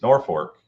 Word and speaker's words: Norfolk: 16 days from today at the Off-Road Speedway, and you got to say it right if you're up in that area. It's Norfolk, Nebraska.